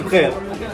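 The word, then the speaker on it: بخير: I'm fine, bkhair. Okay. Be khair. Being here. Exactly, Okay. you've got it.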